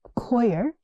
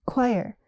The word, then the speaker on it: choir: Not quer. It's choir.